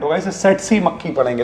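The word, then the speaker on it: tsetse: देखिए यहां पे टी साइलेंट होगा। इसे सेट सी मक्खी पढ़ेंगे।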